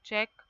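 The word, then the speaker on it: cheque: uh you can write check c h e q u e here q u is here U is silent check and unique u n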